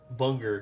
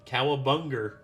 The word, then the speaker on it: cowabunga: Bunger. And he's just like, cowabunga. She's like, you cannot put a hard R on the end of cowabunga.